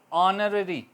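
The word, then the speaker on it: honorary: ऑनररी, ठीक है, H silent रहा।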